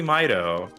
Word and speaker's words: Mido: So are you saying that you pronounce it Mido? No, it's obviously Mido, Okay. like Midas.